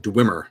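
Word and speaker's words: dweomer: give appropriate percentages uh kevin says that it's pronounced dwimmer well that's good to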